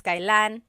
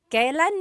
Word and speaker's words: kailan: And then just a pronunciation tip, it's pronounced kailan, kailan, but you will often hear it pronounced kailan, kailan.